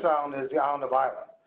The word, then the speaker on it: Islay: The most famous island is the island of Islay. So it's spelled I-S-L-A-Y. It's not Islay. Island.